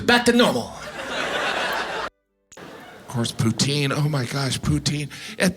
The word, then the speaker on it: poutine: smoothie it was delicious poutine I know some of you pronounce it Putin but you're still saying poo I love poutine and